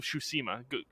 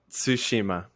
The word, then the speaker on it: Tsushima: you're the Japanese major please pronounce it tsushima this is how you would say it I feel like I'm I'm like slurring it though like I think I'm adding an H in there tsushima right yeah close enough